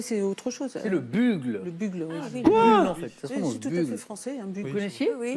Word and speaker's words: bugle: C'est- Alors, je sais même pas comment on le prononce. C'est quoi? Ah oui, c'est autre chose. C'est le bugle.